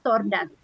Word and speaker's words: tortoise: Tulisannya tortoise, tapi cara bacanya tordas.